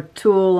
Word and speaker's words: tulle: It's called tulle. A lot of people have a hard time to pronounce that. And if you remember a man's tool, like a hammer or pliers, they're always looking for their tool. Well, we're always using our tool. Same thing, but it's spelled T-U-L-L-E.